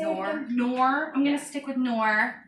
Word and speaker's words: Knorr: Knorr.